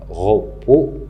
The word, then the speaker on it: repos: La même chose pour repos, il se termine par S. Le S est écrit, mais il n'est pas prononcé. Et le mot délicieux, il se termine par X.